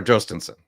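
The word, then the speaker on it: Jhostynxon: So, Yostens or Yostens or Joensson. Yeah, you could you could do the Y or the J kind of pronunciation.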